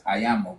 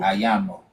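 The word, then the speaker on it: àyànmọ́: And so once it's all solidified, that's ayamo because you can't change it. I a y a n m o I think. Yeah. Ayan. Yeah. The n is like it just let you know there's a syllable there.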